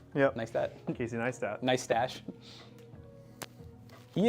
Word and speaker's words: Neistat: Neistat. Yep. Neistat.